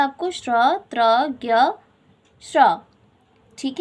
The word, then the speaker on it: त्र: त प्लस र प्लस अ के योग से बना है। इसका उच्चारण किया जाता है त्र।